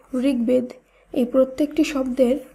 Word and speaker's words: ঋগ্বেদ: শব্দগুলিকে যখন আমরা শুদ্ধভাবে উচ্চারণ করব তখন বফলার উচ্চারণের কোনো পরিবর্তন হবে না। তাই দিগ্বিদিক, দিগ্বিজয়, দিগ্বলয়, ঋগ্বেদ এই প্রত্যেকটি শব্দের উচ্চারণ একই হবে।